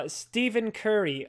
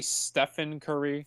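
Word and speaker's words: Stephen Curry: haven't seen nope uh stepen Curry underrated it's actually stefen Curry fine stefen Curry underrated I'm not trying to correct you I'm just saying that's how it's pronounced I know it's kind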